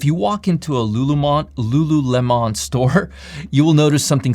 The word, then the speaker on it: Lululemon: stock on my list is lulumon lulu lemon now i'm pronouncing it correctly lululemon ticker symbol l-u-l-u the